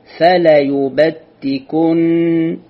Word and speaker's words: فليبتكن: فليبتكن، فلا مو فليبتكن، لا خطأ، فليبتكن زين، فليبتكن آذان الأنعام ولآمرنهم.